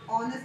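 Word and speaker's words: honest: बट एच का sound जहाँ पे साइलेंट हो जाता है, जैसे कि फॉर एग्जाम्पल ऑनर, ऑनर में एच का साउंड साइलेंट हो जाता है, ऑनेस्ट में हो जाता है ना, एच का साउंड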